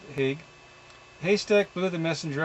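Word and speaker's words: Haigha: fans on each side, Haig pronounced so as to rhyme with mere, dug his hands into the haystack.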